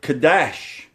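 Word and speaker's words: חדש: It is the word Kadash.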